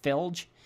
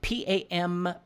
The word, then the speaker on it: Pamphilj: I think it's how you pronounce it, Filj. P-A-M-P-H-I-L-J. Pamphilj. That's what it says.